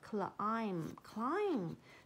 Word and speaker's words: climb: 这个 B 不发音哦，所以 climb. Started to climb.